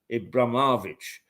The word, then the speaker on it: Abramovich: And they say it was Abramovich. Let me try and pronounce that the Russian way. Abramovich, who actually negotiated the